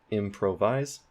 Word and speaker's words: improvise: put primary stress there improvise improvise improvise the main stress is at the beginning of the word for m on that